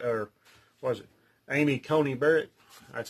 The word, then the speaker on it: Amy Coney Barrett: those judges in there that are republicans especially amy coleman conan barrett or was it amy coney barrett that's how you say it uh in there